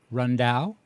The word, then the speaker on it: Riendeau: I'll try to pronounce this correctly. Picacho. Michael Riendeau. Michael Riendeau.